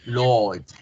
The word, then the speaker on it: Lord: Fíjense, Lord, Lord, Lord. En americano el sonido se hace un poquito más sonoro, pero igual manera no se hace como se hace en español. No decimos Lord, Lord, no. Lord, Lord. Oh, al alargar la vocal hago el sonido de la R.